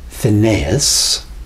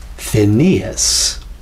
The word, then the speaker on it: Phineas: take mine for example it's not phineas it's phineas my name is phineas although i must admit